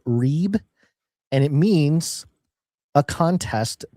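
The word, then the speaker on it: ריב: case against Strong's 7379, rib, and I think it's pronounced reeb, and it means a contest, personal or legal.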